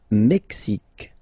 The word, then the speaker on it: Mexique: Le Mexique. Le Mexique. Mexique. It's really the X. Huh? Le Mexique. And then remember this Q-U-E, it's only K.